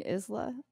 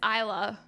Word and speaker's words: Isla: of in the uk i think he's making the s silent in the same way that island the s is silent i mean isla it's isla it's isla i found